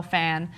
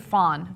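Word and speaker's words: Phan: Johnson obvious YouTube Star Michelle Fan uh or is it Fawn do I always say her name wrong no I think it's fan okay great uh and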